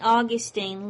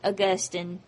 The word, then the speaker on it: Augustine: Augustine lived from 354 to 430 his name is also sometimes pronounced st. Augustine either way is correct st. Augustine or st. Augustine had lived a rather